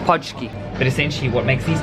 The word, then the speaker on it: pączki: I'll ask how she pronounces it, but everything in Polish is hard. How do you call it? Podski. Podski.